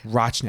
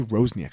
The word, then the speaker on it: Rochniak: - Rochniak. I always say Rozniak. I don't know why I think there's a fuckin Z in it.